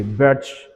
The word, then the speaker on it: Birch: liquid ammonia called Bridge how do you pronounce this huh batch batch B Verge Verge okay Birch reduction right so that's the answer